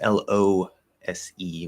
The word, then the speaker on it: lose: same uh of course l-o-s-e with only one o is lose that s changes to a z because you know english is awesome like that but yes these two